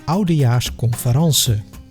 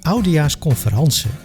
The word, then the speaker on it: oudejaarsconference: And most typically, we do that while watching the oudejaarsconference. Attention, in this context, we pronounce conference the French way.